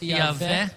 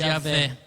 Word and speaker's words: Iavé: Geralmente a gente fala com o W com som de V, né, no português. Então nós vamos chamar de Iavé ou Javé, né?